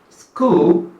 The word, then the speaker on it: school: But remember, the CH there actually gives the K sound. That is why school has the K sound.